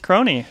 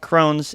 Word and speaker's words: Crone: Please welcome all the way from Magic Mountain, Crony. How are you doing today? Woo! I'm well. How are you? Or Crone, right?